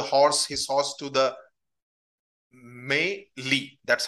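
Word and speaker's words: mêlée: vishas guided the horse his horse to the m Lee that's how it is pronounced okay I wanted to make a note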